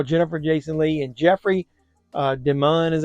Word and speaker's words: DeMunn: Thomas Howell, Jennifer Jason Leigh, and Jeffrey DeMunn, is how you pronounce his name, is Captain Esteridge.